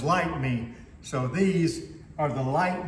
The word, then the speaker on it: Lytmi: to pronounce the name I thought that it was light me ly TM I but I watch several videos and they're all calling it lit me so I went uh to my original email where the manufacturer of the product actually includes the pronunciation as light me so these are the